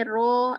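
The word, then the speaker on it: ρ: dan sesudahnya Nah kalau di sini ro ini ro ya bacanya Ya yang orkes macam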